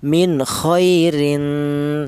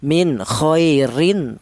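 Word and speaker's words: مِنْ خَيْرٍ: Tidak boleh tanwin ini dibaca jelas atau izhar min kohairin. Tidak boleh. Karena huruf ta ini masuk dalam hurufnya ikhfa. Jadi cara bacanya tanwin ini disamarkan min khairin ta dibaca ikhfa alasannya tanwin berjumpa dengan huruf ta ya untuk kali ini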